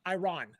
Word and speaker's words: Iran: Oh my God, it'd be catastrophic, Iran. right? That's how you say it in English. Iran, right?